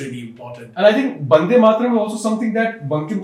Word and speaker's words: Vande Mataram: Is it B or is it V? Is it Vande or is it Bande? Well, it's actually Vande Mataram. But when, non-Bengali speakers say it, it becomes Vande.